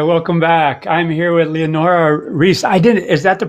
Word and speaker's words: Leonora Risse: hi welcome back i'm here with leonora reese i didn't is that the proper pronunciation yes thank you yes please yeah and